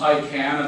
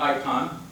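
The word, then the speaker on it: ICANN: to start with uh it is pronounced I can and not icon and it's not the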